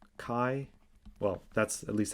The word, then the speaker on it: chi: number it's pronounced so this greek letter is pronounced kai well that's at least